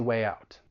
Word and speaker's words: way out: order to connect them so way even though it's spelled w-a-y it's actually a vowel sound way it's a front vowel sound which means we would insert a slight yes sound in order to link it with the vowel sound in out